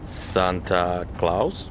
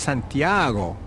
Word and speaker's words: Santiago: may be of help Camino De Santa Claus ha it is pronounced Santiago what is it hi